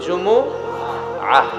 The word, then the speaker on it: জুমুআহ: সূরাটার নাম হচ্ছে সূরাতুল জুমুআহ। আমার সাথে সাথে বলেন সূরাতুল জুমুআহ। সবাই বলেন সূরাতুল জুমুআহ। অনেকে বলে ফেলে জুমা, জুমা। আসলে আরবিতে শুদ্ধ উচ্চারণটা হচ্ছে জুমুআহ, সূরাতুল জুমুআহ।